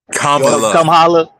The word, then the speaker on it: Kamala: You gotta say it right. You know, Kamala. Come holla.